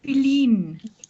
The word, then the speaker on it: Feline: Feline. With the accent on the I.